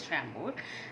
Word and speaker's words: Chambord: It's pronounced as Chambord, and it's a beautiful shade.